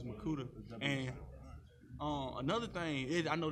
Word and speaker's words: Mwikuta: But it was harder because like the W silent, so it's Makuta instead of the Wikuta, so it's Makuta.